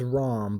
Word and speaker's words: Ram: now we have a Ram ROM its ROM but everyone pronounces a tram like a like a sheep or a mountain goat but she's no goat